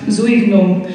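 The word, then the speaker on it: Zueignung: a smaller piece and he's pronounced Zoe boom it means dedication is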